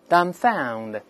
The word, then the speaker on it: dumbfound: 一下 astound，再看第二个 dumbfound，中间的 b 不发音，